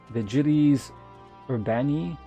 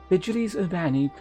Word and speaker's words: Vigiles Urbani: How would this be pronounced in Latin? It would be like Vigiles Urbani? Vigiles Urbani, and it was our duty to keep the citizenry safe.